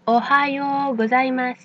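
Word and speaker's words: おはようございます: Donc on ne prononce pas Ohio mais Ohio. Maintenant vous pouvez répéter après moi Ohio Gozaimas.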